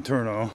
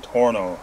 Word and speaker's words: Tornow: would be for John Turner I keep mispronouncing his name against John torno it's hard to say